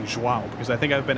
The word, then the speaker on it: João: So instead of saying like João, it goes João.